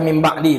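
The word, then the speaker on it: مِنْ بَعْدِ: Itu namanya iklab. Nun tu bacanya jadi mim ba. Kan ibu baca tu mim ba'di tadi.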